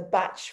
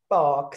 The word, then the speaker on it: Bach: harley street but um a lot of his patients couldn't pronounce his name of bark so if you come from a traditional training through the batch flower center you will know because we'll always project pronounce it as batch and that's how he taught his patients how to pronounce it so basically just quickly